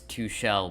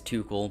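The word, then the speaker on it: Tuchel: always pronounce it wrong i always pronounce too shell but it is too cool but it was a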